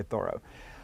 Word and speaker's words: Thoreau: know more about it i try to say thorough having spent intimate up close time with him